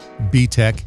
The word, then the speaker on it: BTech: join button below btec pronounced btec is based in the